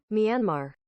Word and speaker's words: Myanmar: I forgot to put the word pronunciation. Myanmar.